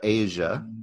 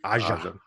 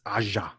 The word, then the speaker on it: Aja: It's taken it a little bit more seriously, and it's by it's Alexandra Asia, which, if you know that name, Alexandra Aja. I think his name is Aja.